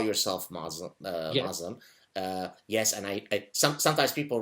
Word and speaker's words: Muslim: And of course, in Arabic, you would say Muslim.